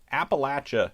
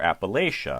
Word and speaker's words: Appalachia: probably heard it and there is some disagreement in different parts of it of whether you pronounce this appalachia or appalachia i grew up pronouncing it appalachia you may very well have done so too if you're from north of the mason-dixon line if you're from south of the mason-dixon line it's more likely you say appalachia and